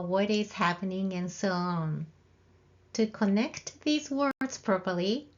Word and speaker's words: を: direct object particle o this hiana character o is the same pronunciation as the vowel o but this hiragana character o is only used as a particle the particle o marks